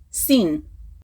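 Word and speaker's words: סין: China yes that's right that is how you say China in Hebrew sin so when you hear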